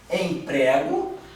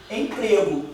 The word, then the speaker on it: emprego: Emprego. Emprego. Ó, escrita é igual. Sim ou não? Sim. Pronúncia diferente. Sim. Sim. Aqui, ó. Emprego e emprego. O ezinho, um é aberto, outro fechado.